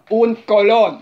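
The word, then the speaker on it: un colón: Un Colon.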